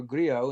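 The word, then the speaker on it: Grillo: Werewolves starring Frank Gillo or Grio if you want to go with the Italian pronunciation who you know as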